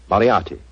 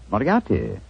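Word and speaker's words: Moriarty: Moriati. Moriati.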